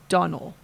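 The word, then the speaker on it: Domhnall: It's pronounced Donald, but it's D O M H N A L.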